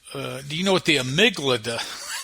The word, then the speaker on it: amygdala: And she says, well, do you know what the amygdala?